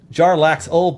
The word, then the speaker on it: Jarlaxle: Pronunciation guide. All right. Bum bum bum bum bum bum. Jarlaxle Bainra. Jarlaxle Bainray.